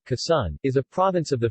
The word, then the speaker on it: Quezon: you case on Tagalog pronunciation Kisan is a province of the Philippines in the